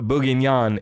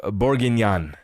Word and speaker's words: bourguignon: Says Zach, it's not beef bourguignon, it's beef bourguignon. That's right. I like to mispronounce it on purpose for more comments, more engagement.